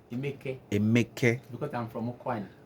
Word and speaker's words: Emeka: So the right pronunciation of my name is Emeke. Emeke, Emeke, Emeke.